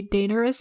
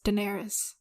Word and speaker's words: Daenerys: sorry um actually people some people say dangerous but it's widely pronounced as daenerys daenerys oh okay that makes